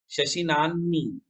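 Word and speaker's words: शशिनाह्नि: शशिनानी, इसमें ह का उच्चारण पहले, न का उच्चारण बाद में होता है।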